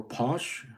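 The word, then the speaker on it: Pasch: Valentine's Day modern times Easter or Posh pronounced POS was observed by religious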